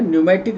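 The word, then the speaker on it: pneumatic: सवाल question number P न्यूमेटिक यह हमने पढ़ाया है पमेट बोन पी साइलेंट है न्यूमेटिक इसको बोलते हैं ऐसी हड्डिया जिसमें एयर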